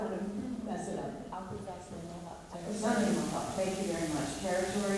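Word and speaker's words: Akwesasne Mohawk: You know, you should pronounce this. I don't want to mess it up. Akuzasimohawk.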